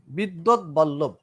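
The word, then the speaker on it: বিদ্বদ্বল্লভ: উচ্চারণটা হবে বিদ্যোদ, তারপরে বল্লভ। বিদ্যোদ বল্লভ।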